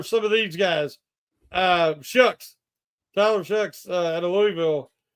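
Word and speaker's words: Shough: Tyler Shucks at Louisville I think he's pronounced his shuck since how he says his last name it don't look like it but that's how it don't look how it spelled but that's how I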